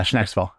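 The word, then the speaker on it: Schnecksville: Um, so the zoo obviously is in in Snacksville. It's uh between North White and Loyal Township. Oh, that's how you pronounce it. Okay. Yeah. Shnacksville.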